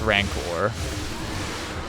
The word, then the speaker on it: rancor: finally said it right i actually looked up how to pronounce it and it is indeed pronounced rancor and again we use